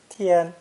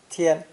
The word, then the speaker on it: 天: heavens or even god this character is pronounced with a high and flat first tone tien tien again we see the